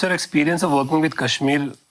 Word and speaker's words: KSHMR: What's your experience of working with Kashmir? Am I pronouncing it right? Kashmir, yeah. Kashmir, yeah.